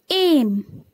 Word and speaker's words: aim: When A and I comes together, you will pronounce it A. A. I becomes silent. Like A, M, aim.